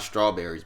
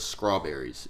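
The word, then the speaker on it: Skrawberries: j.i.d that was uh called strawberries not strawberries but strawberries it's spelled s-k-r-a is that how we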